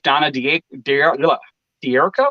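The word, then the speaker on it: Donna D'Errico: divorced from another wife donna dierko is that what it is that's how it's pronounced yep yeah obviously married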